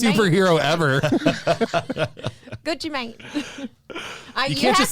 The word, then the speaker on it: Gucci Mane: It's Maine. That's what Gucci Mane. You said man. Gucci man.